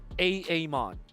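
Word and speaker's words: Aamon: sure you guys grab those Heroes now you're pronouncing it correctly a Amon but you like how how I transition into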